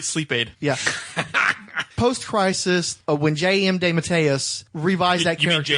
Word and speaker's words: DeMatteis: Post-crisis, when J.M. DeMatteis revised that You mean character. J.M. DeMatteis? It's not the correct pronunciation.